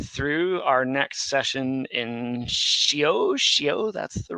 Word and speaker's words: Seow: We are going through our next session in Seow, that's the right way to pronounce it, Seow's grammar.